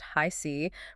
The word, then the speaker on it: HiC: Today we are pulling from Tarot by Harris C., and that's pronounced High C, for the week of June 8th through the 14th, 2026.